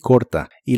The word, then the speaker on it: live: Live que significa Vivir la i de esta palabra se pronuncia de manera muy corta y suena ligeramente como e Live la v o chica